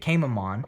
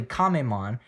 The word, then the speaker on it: Kamemon: it's actually uh kamemon because that's how you sort of pronounce turtle in japanese um so it's kamemon